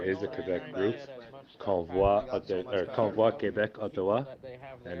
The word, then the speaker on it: Québec: And again, guys, for the updates for Quebec, there is a Quebec group, Convoy Québec Ottawa, and it is being spelt in French, so I'm pronouncing it French.